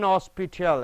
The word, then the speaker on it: hospital: He fell and was taken to an hospital. An is correct because H is silent over here.